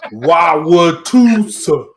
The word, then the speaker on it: Wauwatosa: Wauwatosa.